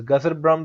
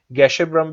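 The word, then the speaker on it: Gasherbrum: तो जो गैशरब्रम भी इसको कहते हैं, गजरब्रम भी कहते हैं। तो डिफरेंट प्रोनाउंसिएशन है इसकी, आप किसी तरह भी इसको याद रख सकते हैं।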